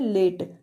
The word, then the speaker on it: late: इसी तरह से है लेट, LATE, इसमें भी ई का क्या है?